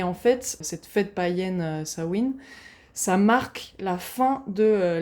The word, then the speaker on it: Samhain: fait ça se dit sawin plutôt ça se dit pas Samain mais je risque de